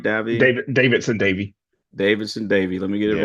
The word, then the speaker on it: Davidson-Davie: Davidson-Davie.